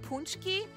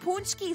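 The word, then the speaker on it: pączki: almost like oh my God how do you pronounce it punchki it's almost punchki season am I pronouncing that really badly how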